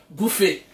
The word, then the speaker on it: buffet: Buffet. They had the buffet, yeah. Then for dinner, they would have this big buffet. You know, some people would call buffet buffet. A buffet. The tea is silent.